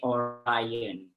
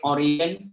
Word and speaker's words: Orion: The answer is Orion. Okay, some people call it Orion, some people call it Orion, no, because both, okay, pronunciation is accepted.